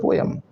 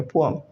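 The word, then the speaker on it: poem: आप बचपन से बोल रहे हो पोएम, पोएम नहीं होता, एग्जैक्ट प्रोनाउंसिएशन होती है पोअम। क्या होती है? पोअम, right. आगे से पोएम नहीं कहना, इट्स पोअम, अंडरस्टूड।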